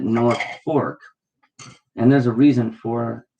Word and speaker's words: Norfolk: called or spelled like north folk folk like folk people norfolk but everybody pronounces it north fork and there's a reason